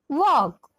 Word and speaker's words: walk: TALL tall, WALL wall, TALK talk, WALK walk, इन दोनों शब्दों में एल का उच्चारण साइलेंट है।